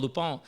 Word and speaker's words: Lupin: show called Lupin, and it's spelled Lupin, and that is how it's pronounced, man. And Cristal, who's a friend of mine, is going to tell me if I'm right or wrong on that. But I was pronouncing it Lupin for a long ass time, and somebody called me